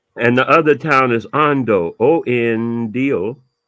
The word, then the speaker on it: Ondo: And the other town is Ondo, Ondo.